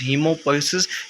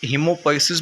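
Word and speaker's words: hemopoiesis: That is known as हीमोपोइसिस, यू कैन say that हीमेटोपोइसिस। आप इसको what ever you pronounce it, इसका मतलब same होता है। आप हीमोपोइसिस भी बोल सकते हो, हेमेटोपोइसिस भी बोल सकते हो।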